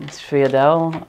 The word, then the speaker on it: sfogliatelle: There are a few different ways to pronounce it. Sfiadelle or Sfogliatelle, I think is the not Italian-American way to pronounce it.